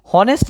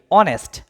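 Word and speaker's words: honest: কি বসবে এন বসবে এখন অনেস্ট না হনেস্ট বল অনেস্ট বল ও উচ্চারণ হইতেছে ও একটা কি তাইলে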